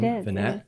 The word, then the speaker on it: Vinnett: guest um Erica Vanette is that how you pronounce the last name Vanette y okay yeah so I actually met Erica